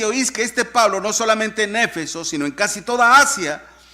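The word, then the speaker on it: Éfeso: Eso es lo que significa Efeso en acento en la E.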